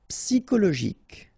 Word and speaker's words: psychologique: Psychologique, okay, remember it's an exception here because you've got this C-H-O. Normally we should pronounce it sho, okay, but in that case we pronounce it ko.